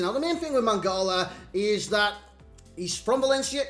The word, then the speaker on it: Mangala: His name is Enquiries. Is that how you pronounce it? I've got no idea. Enquiries? It's Mangala.